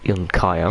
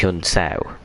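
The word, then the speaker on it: Junção: Seemingly it's Yun Sao, is the way you pronounce it.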